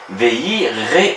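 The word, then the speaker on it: וְיִירְאוּ: Ici, il faut bien lire Yevarechenu Elohim veireu. Il faut prononcer le Sheva de façon à dire veireu, ils craindront.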